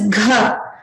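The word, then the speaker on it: घ: This is gha. Ga is an alpa prana. Gha is a mahaprana. So you're seeing that I'm putting more force into pronouncing this.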